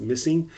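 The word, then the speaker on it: MSSNG: It's pronounced missing and it's a conglomerate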